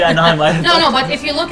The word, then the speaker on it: anime: Then I would go a step further and say the reason it's pronounced anime is because Japanese people cannot end with an M.